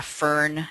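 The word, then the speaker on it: FRN: Some people pronounce this a FERN, F-R-N.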